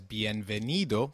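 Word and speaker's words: bienvenido: venida for welcoming females welcome therefore translated as B venido for welcoming a male guest and B Vena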